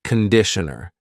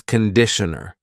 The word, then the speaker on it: conditioner: and this is conditioner be careful of the pronunciation it's not conditioner it's conditioner the first vowel is a conditioner conditioner and